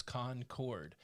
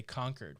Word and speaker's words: Concord: way i remember it if i'm thinking about the town in north carolina it's two words con chord but if i'm thinking